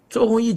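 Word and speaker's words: 周鸿祎: His name is Zhou Hongyi. It should be that word. I just pronounced it wrong.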